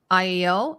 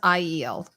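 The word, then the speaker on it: Aiel: by the way I was calling it I iel it's actually pronounced sorry it's pronounced iel I think I said i e l like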